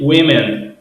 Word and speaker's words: women: Nós temos aqui woman e nós temos aqui women. Qual é a diferença? Só trocamos aqui o a pelo e. Então aqui fica o woman, o o pronunciado como o mesmo aqui é pronunciado como um i, né?